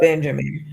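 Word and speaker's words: Binyamin: Yeah, it's it's his real name, but the it's often spelled B I N Y A M I N. Okay. But it's Benjamin. Like spelled like the American Benjamin name.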